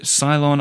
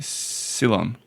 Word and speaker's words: Ceylon: You can pronounce it based on your mood, they say. Ceylon. Yeah, it's based on Sydney and London. Oh, cool. As I understand. Okay, cool. So really it should be Ceylon.